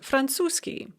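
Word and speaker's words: французский: arabic is pronounced arapsky or franzuski french is pronounced franzoski so it's very common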